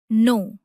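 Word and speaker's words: know: अब देखिए नो। इसकी स्पेलिंग के एन ओ डब्ल्यू होती है। लेकिन इसमें के साइलेंट होता है। इसे नो पढ़ा जाता है।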